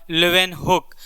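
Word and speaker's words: Leeuwenhoek: Robert हुक के बाद लुविन होक का आता है तो यहां पे आपका लुविन हुक हो जाएगा याद रखिएगा स्पेलिंग थोड़ा अटपटा है लुविन हुक एच ओ ई के लुविन हुक जो है ये कंसीडर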